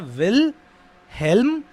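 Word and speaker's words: Wilhelm: है हमारे विल ham want क्या नाम है विल हेल्मेट जो है वो साइलेंट है तो विल हेलम विलियम नहीं है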